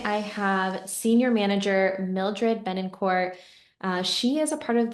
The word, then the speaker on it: Betancourt: Well, the pronunciation is Betancourt. Its origin is French, but no one pronounces it. It's Betancourt. Betancourt is fine.